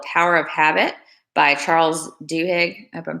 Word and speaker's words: Duhigg: book called the power of habit by Charles Duhigg I've been pronouncing that right because interestingly okay so let's